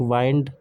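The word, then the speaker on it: wind: team ठीक है और एक होता है lead the metal the pipe is made of lead है ना इसके बाद होता है एक वाइंड raw with माइंड वाइंड to turn वाइंड the clock ठीक है एक होता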